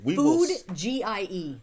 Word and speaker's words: Foodgie: Food G-I-E. That's Food, how it's spelled. Foodgie.